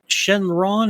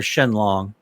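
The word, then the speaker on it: Shenlong: Shenron or uh yeah Shenron or Shen long then long is the correct Japanese pronunciation however I'd go with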